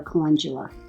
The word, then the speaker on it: calendula: I also plant some calendula or calendula. People pronounce it both ways.